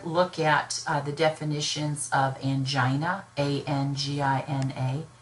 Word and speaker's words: angina: at the definitions of angina a and GI na I say angina some people could say angina both are considered correct so you can pronounce it any way you like there is chronic stable